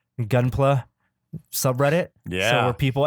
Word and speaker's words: Gunpla: I don't mean to insult your gunplay, maybe gunpla. The You know, I mistakenly thought it was short for Gundam Play, but it's Gundam it's plastic. plastic, yeah. It's short for plastic, so I assume it's